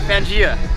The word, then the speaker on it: Fangaea: Keep pronouncing. Fangaea or Fangaea? Fangaea.